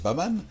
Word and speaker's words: Bahman: Ah, Moustapha, c'est Baman. Ouais. Le Baman, ça vient d'où ce nom Baman? On prononcera un nom anglais?